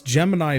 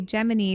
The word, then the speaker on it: Gemini: hip yeah oh it's Gemini but they pronounce it like Jiminy Cricket mm-hmm it took a